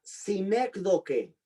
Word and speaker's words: sinécdoque: La otra se llama sinécdoque. Sinec con C de Carlos, primero con S, sinécdoque. Sinécdoque, y ponle acento en la primera E.